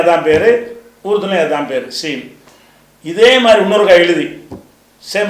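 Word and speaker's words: سين: அப்படிங்கிறதுனால அந்த அந்த சீன்ங்கிறது எதுக்குரியது என்று கேட்டால் பசை பசைன்னு சொல்றீங்கல்ல பசி. பசின்னு சொல்றீங்க சீ சொல்றீங்க அது பச்சின்னு சொல்ல மாட்டீங்கல அந்த மாதிரி உள்ள உச்சரிப்புக்கு எது வரும்? இந்த சீன்ங்கிற உச்சரிப்பு வரும். இதுக்கு அரபிலயும் அதான் பேரு உருதுலயும் அதான் பேரு சீன்.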